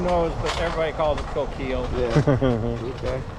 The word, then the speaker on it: Coquille: that oh who knows but everybody calls it Coquille okay it's the same way how do you really pronounce Sacagawea you know so here's a better